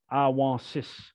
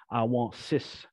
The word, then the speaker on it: Awansis: So A-W-O with underscore S-S-I-S, Awansis. Like I said earlier, you do have to pronounce all of the letters. So the S at the end, it's not a silent letter. It is I want sis.